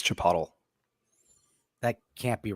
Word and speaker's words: chipotle: me yeah it's uh it's pronounced in the great country of Mexico as Chipotle that can't be right